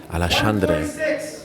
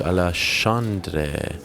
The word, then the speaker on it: Alexandre: The pronunciation policeman himself, the king of pronunciation, John Anik, is telling me it's Alexandre. 146, Alexandre.